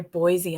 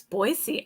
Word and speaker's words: Boise: see, I know how I heard someone the other day say Boise, and I said, no, it's Boise. I know how to say it properly now. Good There for we you. go. Yeah. They even have a song that says there's no Z in Boise.